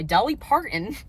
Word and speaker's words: Dolly Parton: run Rose run by Dolly Parton and James Patterson now I figured out I don't know why I was having a hard trouble pronouncing her name earlier it's not a hard name Dolly Parton I am giving this